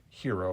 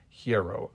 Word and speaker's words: Hiero: I've always pronounced his name in reading it Hero, but the proper pronunciation is Hiero, I guess, Hiero.